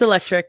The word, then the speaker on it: Electriq: um Team I believe I don't know if I've pronounced that right electri yeah it's electric yep okay okay um but